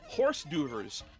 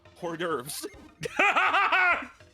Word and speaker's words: hors d'oeuvres: Up next is horse doovers. Homer's mispronunciation of hors d'oeuvres.